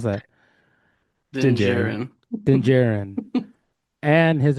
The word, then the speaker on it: Din Djarin: How do you pronounce that? Din Din Djarin.